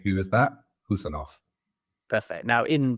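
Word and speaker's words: Khusanov: in this field is, have I got that pronunciation of the surname right? Pretty much. It's Abdulkadir Husanov. So it's like, who, as in that you say, who is that? Husanov.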